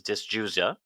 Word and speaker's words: dysgeusia: and the term for that is dysgeusia, like beetle Dysgeusia, dis dysgeusia. dysgeusia, like Beetlejuice, Yeah, Beetlegoose.